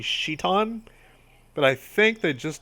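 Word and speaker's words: Citan: wedding by the way Doc's name is spelled sit on it is actually like it was deliberately changed to that because it's supposed to be sheet on but I think they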